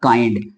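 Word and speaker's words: kind: बोलते हैं ई लेकिन एनडी आए तो हम इसको पढ़ेंगे आई तो बन गया काई और एनडी को पढ़ते हैं आधा न और ड तो बन गया काइंड एक एग्जांपल और ले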